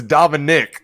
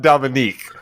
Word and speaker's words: Dominic Mysterio: But I'm pretty sure it's Dominic Mysterio, not Dominique.